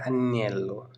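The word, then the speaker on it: agnello: एक होता है अन्येलो, जो जी वो रहेगा साइलेंट, तो अन्येलो, ये होगी भेड़, उसको बोलते हैं अन्येलो।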